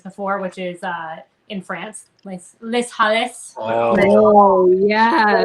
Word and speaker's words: Les Halles: Which I don't know why I didn't say this before, which is in France, Les Halles. Oh yes. Leal. It's pronounced Leal.